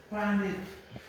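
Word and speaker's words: Paneth: Panet. Panet se escribe p E a N e th.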